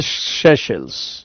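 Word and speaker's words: Seychelles: तीसरा island शशल्स शशल्स spelling कुछ भी हो बोलेंगे शशल्स शशल्स अरे शल्स श के ऊपर ए की मात्रा फिर श फिर आधा ल और स शशल्स ये भी इंडियन ओशियन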